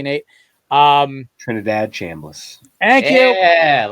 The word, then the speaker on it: Trinidad Chambliss: Ole Miss's offense with the guy whose name I can never pronounce correctly, Nate. Trinidad Chambliss.